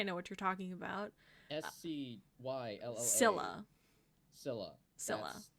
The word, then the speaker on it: Scylla: Skyla? Is that from the Odyssey? There is, I think I know what you're talking about. Scylla.